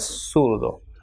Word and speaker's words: zurdo: pronounced as sumo, and ZURDO will be pronounced as surdo.